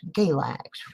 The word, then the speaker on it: Galax: That's Galax, rhymes with X-Lax, for a reason.